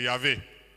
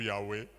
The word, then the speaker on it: Yahweh: c'est vraiment très grave c'est yavé ou youé dépend de de prononciation euh euh notamment africaine Jésus dit aux Juifs